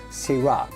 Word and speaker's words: syrah: talk about syrah yes i know the spelling of syrah is a little strange but yes you do have to say syrah in french we would say sira the australians do call syrah sharas sharais mai there